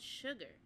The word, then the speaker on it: Sugar: Suga is their um pronunciation.